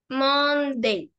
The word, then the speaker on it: Monday: lo que se lee porque si es la pronunciación de monday se pronunciaría así monde okay a los que